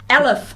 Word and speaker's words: Elliffe: But yeah, here in Aotearoa, Te Waipounamu, the family, there's not many Elliffes, but that's how they pronounce it.